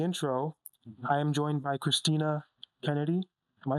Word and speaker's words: Christina Kennedy: As you already know from the intro, I am joined by Christina Kennedy. Am I saying it right? Yeah. Christina Kennedy.